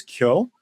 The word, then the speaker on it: Kyo: The word is Kyo.